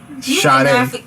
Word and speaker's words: Sade: Sade.